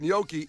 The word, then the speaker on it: gnocchi: I leaned into the G. Turns Yeah. out that was some incorrect. gnocchi.